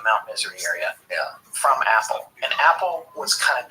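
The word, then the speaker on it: Apol: cold who called himself Apple a p o l pronounced apple apple was constantly messing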